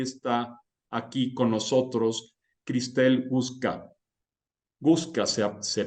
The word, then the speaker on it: Guczka: la verdad es que ya he escuchado tantas pronunciaciones diferentes que he pasado del Guxka, del Gushka, del Guchka, pero bueno, creo que como tú lo has dicho, está bastante bien.